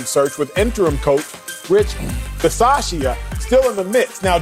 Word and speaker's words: Bisaccia: Bisaccia.